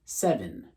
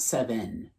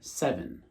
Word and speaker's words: seven: Now, with the EN at the very end, and instead of going N, it should be pronounced kind of like in, right? 7. Not 7, but rather 7.